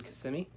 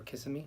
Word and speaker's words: Kissimmee: another one it was also it was in Kissimmee I think that's how you say it or kissing me I think is Kissimmee Kissimmee quality quality or